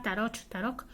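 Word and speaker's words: Tarock: Una sería la palabra tarok, acabado en ch y pronunciado más o menos como una k, tarok, que es loco o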